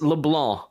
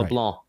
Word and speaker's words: LeBlanc: Because it's LeBlanc, and then you kind of let the end part you don't have to pronounce the NC, so it's right. LeBlanc.